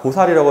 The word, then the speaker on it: 보살: 자, 근데 문맥을 보면은 자, 그대가 자식이 없더니 무슨 죄인가, 이때 이거 뽕살 아닙니다. 보살이라고 읽으시면 돼요.